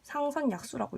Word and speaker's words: 상선약수: 요거는 상선약수라는 의미거든요. 상선약수라고 읽거든요.